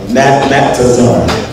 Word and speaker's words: Natazar: He pronounced every syllable. Natazar. Natazar. Three syllables.